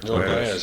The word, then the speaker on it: Joan Baez: I'm not sure how to pronounce this correctly. Joan Baez? Yeah, Joan Baez, yeah.